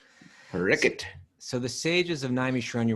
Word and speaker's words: Parikshit: People saying, but isn't it pronounced differently? Like, isn't that an SH sound? But there's a Bengali pronunciation, which is a little easier on the Western ear. That's why we're saying it. Parikshit is the Bengali way to say it.